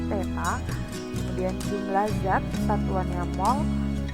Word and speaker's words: theta: Kalau ini dibacanya theta.